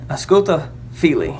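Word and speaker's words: Ausculta fili: it's a schulte philly a schoolta fili is how it's pronounced and what that said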